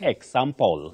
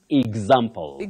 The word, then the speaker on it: example: not example, mm-hmm. example. So the correct pronunciation of that word is exotic.